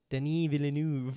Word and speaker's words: Denis Villeneuve: Denis Villeneuve. Oh yes. Well, yeah. like if you say it in French, it's like Denis Villeneuve.